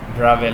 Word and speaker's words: Bravais: Okay, so this is the one Bravais lattice. This pronunciation is Bravais, remember, my students, okay, not Bravais.